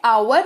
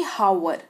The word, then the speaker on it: hour: HOUR, इसको पढ़ते हैं आवर ना कि हावर, ठीक है।